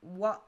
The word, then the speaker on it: は: Le marqueur de sujet wa est toujours prononcé comme wa et non comme ha. Alors, pour ceux qui ne connaissent pas les kana, du moins les hiragana, ça c'est le kana, l'hiragana ha. Mais quand il a base de particule, on le prononcera wa.